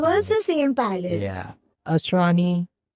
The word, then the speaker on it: Asrani: Asrani is how you say his name, right? Asrani. Yeah.